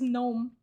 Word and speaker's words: gnome: I still haven't recovered how you pronounce gnome in English. Yeah, just gnome.